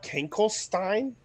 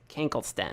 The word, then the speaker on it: Kankelsten: And your Jylar Kankelstein? yes, Jylar Kankelsten. Kankelsten, Not Stein. not Stein. It's spelled with a K.